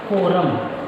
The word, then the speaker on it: quorum: इसको इंग्लिश में हम कोरम के नाम से जानते हैं, कोरम। ठीक है, QUORUM, कोरम। इसकी स्पेलिंग थोड़ी सी बड़ी अटपटी सी आपको लगेगी, तो थोड़ा सा आप लोग ध्यान दीजिएगा।